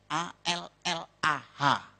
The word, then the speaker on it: Allah: Cuma dia membacanya, ngejanya beda sama kita. Kalau kita cukup Allah gitu. Kayak bercanda sama teman aja, Allah lu gitu aja tersinggung gitu ya. Kayak begitu, ringan gitu. Bacanya itu ringan. Tapi kalau mereka itu terpengaruh dengan bahasa Arab. Jadi nggak ringan, Allah.